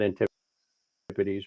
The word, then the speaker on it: antipodes: I pronounce it Antipodes, but everybody knows, and both pronunciations are acceptable.